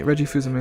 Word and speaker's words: Fils-Aimé: I know how to say it, even though it doesn't look like that's how you say it. It's Reggie Fuzume.